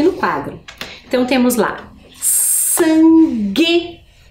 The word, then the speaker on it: sangue: Então, temos lá sangue, guitarra. Percebam que temos também o G com U, mas ao fazer a pronúncia, eu não escuto o som da vogal U.